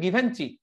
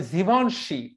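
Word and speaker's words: Givenchy: এইটা ওর উচ্চারণ করে, গিটাকে বলে জি, ভেনটাকে বলে ভন, আর তোমার ওই যে এটাকে বলে জীবনশি।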